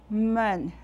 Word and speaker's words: 们: Men has a neutral tone. I pronounce the syllable for you, mo, en, men, neutral tone, men.